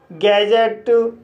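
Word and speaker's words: gadget: इसी तरह से बजट, लेज़र, कजल, गैजेट। तो गाइस इन सभी वर्ड्स में भी डी के बाद जी ई आया है, इसलिए डी साइलेंट है।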